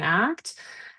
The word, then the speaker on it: ACT: Um but it's referred to as ACT, the word like the verb as opposed to an acronym like act or to like you know spell it out or say it out the full thing each time.